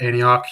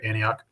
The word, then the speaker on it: Antioch: your books and all that professor emeritus at antioch university that's how you pronounce that right antioch yeah yep um in new england and you